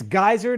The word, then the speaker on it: Geiser: And it's Geiser, not Geiser, people. So don't mispronounce it again.